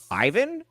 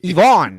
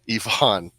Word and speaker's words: Yvonne: Ivan? Even. Ivan? Even? No, it's not even either. On this show, we pronounce names right, damn it. You definitely don't pronounce names right. Yvonne. Get it right. Yvonne.